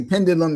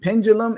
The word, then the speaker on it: Pendulum Ink: hear you saying I say pendulum, but like pendulum is fine, too. Pendulum. Pendulum. I I think it's kind of like Thanos Thanos thing.